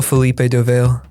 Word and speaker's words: Fellipe do Vale: i just kind of i'm okay with the anglicized version of it which is okay for better that would be a felipe dovale yeah philippe yeah how